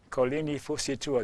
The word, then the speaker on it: Kolini Fusitua: Kolini Fusitua, did I pronounce that right?